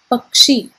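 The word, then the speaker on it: పక్షి: telugu a bird in telugu is known as pakshi p-a-k-s-h-i and by adding the suffix l u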